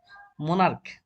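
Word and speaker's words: monarch: মোনার্ক, মোনার্কের সাথে ক আসছে, ছি এর উচ্চারণ মোনার্ক, ক, সেই জন্য শুধুমাত্র এর যোগ করে আমরা প্লুরাল করে দিলাম।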